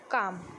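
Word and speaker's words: calm: फार, arm, hurt, काम. इसमें L silent होता है.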